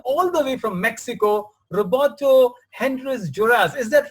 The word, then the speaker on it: Roberto Hernández Juárez: a first friend all the way from Mexico, Roberto Hernández Juárez. Is that right? Am I pronouncing your name right, Roberto?